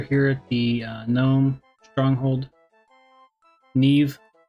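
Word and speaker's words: Nieve: Neve rhymes with Steve.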